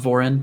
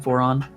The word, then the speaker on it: Voron: assume is is uh is it pronounced Vorin? Voron. Yes.